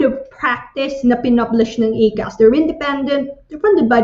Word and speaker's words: ACAS: Kaya tawag namin ACAS, yun ang pag-pronounce namin.